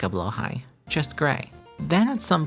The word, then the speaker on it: Blåhaj: So, to compromise, in this video, I'll be using the Swedish style of pronunciation, but with my silly American accent, blowh high. Did you know that the Blowhai we know today wasn't IKEA's first Shark plush?